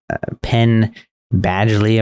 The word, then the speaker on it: Penn Badgley: It has Penn Badgley, I believe is how you pronounce his name in it.